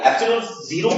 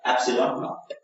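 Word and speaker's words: epsilon naught: याद रखिएगा, एप्सिलॉन 0 भी आप कंसीडर कर सकते हो, बोल सकते हो, पढ़ सकते हो, बट इसका सही प्रोनाउंसिएशन क्या निकलेगा? एप्सिलॉन नॉट।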